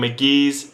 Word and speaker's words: Mk.gee: But, um, as you can see, today we're going to be reviewing McGee.